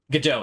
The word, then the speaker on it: Godot: Godot, it is how you pronounce it.